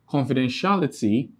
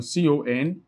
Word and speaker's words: confidentiality: So in confidentiality, this is the syllabic division, confidentiality, then ty. Now, ty is the last syllable, li is the penultimate, then tia is the antepenultimate syllable.